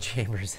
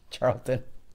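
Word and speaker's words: Chariton: um and I know I mispronounced this now I said Chambers I think it's Charlton sorry um you know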